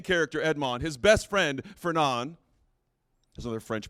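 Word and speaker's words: Fernand: friend the main character Edmond his best friend fernan is another French pronunciation you're welcome his best friend betrays him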